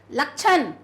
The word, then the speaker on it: लक्षण: है छाता लगाया है लक्षण क्या पढ़ेंगे आप इसको लक्षण तो लक्षण नहीं लक्षण के का उच्चारण सुने देगा लक्षण आपको बीमारी के लक्षण नजर ए रहे हैं आपको मलेरिया के लक्षण नजर ए रहे हैं तो लक्षण का का उच्चारण यहां पर होगा फिर अगर हम इसको